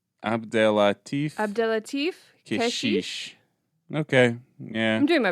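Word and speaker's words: Abdellatif Kechiche: Abdelatif Keshish.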